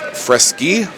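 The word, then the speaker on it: Freschi: the te and now we move to Mr fresy and I asked him about the pronunciation of his name it's spelled f re s c hi I but he told me it's fresy and Italian descent second or third generation Italian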